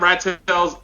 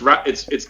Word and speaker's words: Ratels: Not Rat Tails. I can't keep mispronouncing. It's Ratels.